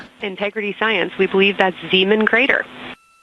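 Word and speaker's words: Zeeman: We believe that's Zean Crater. Oh, I floated away from the speaker. Say it again, please. We believe that that is Zean Crater.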